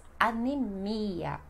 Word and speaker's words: anemia: A quarta palavra deste grupo, então, seria anêmia no espanhol e no português anemia. Anemia. Mais forte, ia.